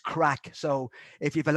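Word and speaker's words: craic: called c-r-a-i-c and it it's pronounced crack so if you have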